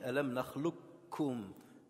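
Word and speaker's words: أَلَمْ نَخْلُقكُّم: Alors dans la prononciation, on dit alam nakhluqukum. Le kaf disparaît. Et on fait l'idram kamil et le kaf va aspirer le kaf.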